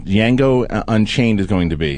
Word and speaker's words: Django: I think it's Django Unchained is going to be, and I pronounced it wrong. No, that's right. Yeah, the D is silent.